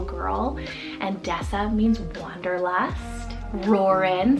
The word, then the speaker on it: Roren: It just has that like power, but it's like Roren, like with the Ren ending, just makes it soft and sweet.